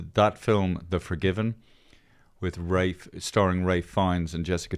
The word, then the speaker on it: Ralph: said his name is Rafe it's pronounced Rafe not Ralph ra okay because ra